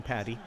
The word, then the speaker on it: Patty: who helpfully says that his last name is pronounced like a chicken patty uh Nick Patty thank